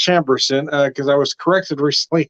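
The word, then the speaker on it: Chambourcin: so I've been pronouncing this wrong I've been pronouncing it uh samborson apparently it's pronounced chamberson because I was corrected recently at a winery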